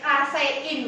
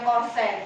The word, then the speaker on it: kasein: Kemudian yang terakhir tadi kasein, bacanya bukan kosen, kasein ya.